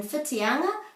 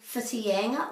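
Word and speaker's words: Whitianga: an o and then in fitianga people say fitiyanga or witiyanga but that's not an e it's never e or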